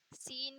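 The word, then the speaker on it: س: सीन को हम इसे तो सा से, नॉर्मल सा से प्रोनाउंस करते हैं, लेकिन एक होता है शीन, यानी ये छोटा होता है और ये इससे बड़ा होता है।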